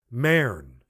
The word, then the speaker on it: Mern: She used the Elizabethan vowel, as one should pronounce bird, with no sound of U. Mern.